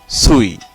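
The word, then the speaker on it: suis: এর পরের বর্ণ শব্দটি হলো সুই, এখানেও চারটি বর্ণ রয়েছে এবং শেষের বর্ণটি এস, এটি অনুচ্চারিত হচ্ছে বা থাকছে, সেটি হলো সুই।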